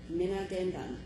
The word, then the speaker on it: Dbaadendizwin: I had 2 different pronunciations, and I'm going to, or not pronunciations, but native language, and I'm going with Kenny's. He says, Dbaadendizwin.